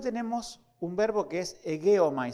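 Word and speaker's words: ἡγέομαι: Después tenemos un verbo que es egeomai, así se pronuncia, egeomai. No se pronuncia con G, sino como si tuviera una U.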